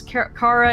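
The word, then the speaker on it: Kara: of looked at the three characters of Marcus Cara it almost said Cara Jesus Christ it's yes Cara why did everybody pronounce it Cara it's cara cara and Connor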